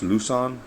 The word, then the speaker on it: Luzon: Cold Steel L on or I think it's pronounced lucon and uh this is